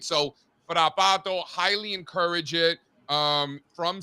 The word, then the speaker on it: Frappato: So, Frappato, highly encourage it.